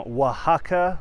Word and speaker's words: Oaxaca: up guys it's raj coming to you from oaxaca mexico spelled o-a-x-a-c-a i know it sounds different but that's how you pronounce it okay so i'm gonna go through